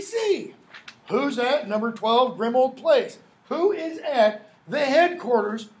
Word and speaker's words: Grimmauld Place: of the order of the Phoenix number 12 pronounce the place Grimmauld place but a ulv is not pronounced old its